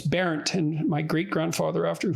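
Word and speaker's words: Berndt: to anyone, but because it was parodied as burnt, because that's B-E-R-N-T, that's how it's spelled. And so it was an object of mockery, so I didn't look into it much, but it's Berent.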